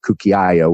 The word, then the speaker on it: cucchiaio: His last name, Cucciaio, is the American pronunciation of cucchiaio, which is Italian for spoon.